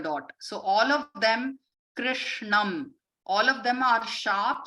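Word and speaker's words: कृष्णम्: so all of them krishnam all of them are sharp sounds and they are meant to be pronounced with the tip of the tongue touching the roof of the mouth okay one day so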